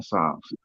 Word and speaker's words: Psalms: spelled because is silent the p is silent in Psalms uh Psalms is a book it's